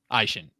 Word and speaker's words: Eischen: It's like the two body parts, your eye and your shin. Eischen. Yep.